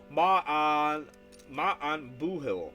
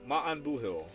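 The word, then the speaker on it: maith an buachaill: The pronunciation is Ma'an Buhil. Ma'an Buhil.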